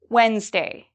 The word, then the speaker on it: Wednesday: b you are correct what about Wednesday Wednesday am I pronouncing the D in this Wednesday no I do not pronounce the d okay and what about